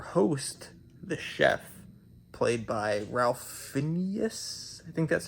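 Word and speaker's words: Ralph Fiennes: this movie focuses on a couple who visit an exclusive Resort Restaurant and their host the chef played by Ralph Phineas I think that's how you say his name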